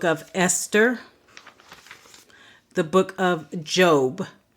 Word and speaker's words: Job: Esther The Book of Job it is job not job j o is job The Book of Psalms